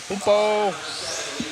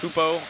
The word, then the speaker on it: Hubert: So, Hupo Honigel, even though it's spelled Hubert, it's Hupo Honigel, if I'm saying that right.